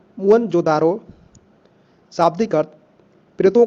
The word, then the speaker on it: मोहनजोदड़ो: इनमें से 2 नगर बहुत ही महत्वपूर्ण है, पंजाब का हड़प्पा तथा सिंध का मोहनजोदड़ो। मूल उच्चारण मुअनजोदारो, शाब्दिक अर्थ प्रेतों का टीला या मुर्दों का टीला भी बोला जाता है इसको।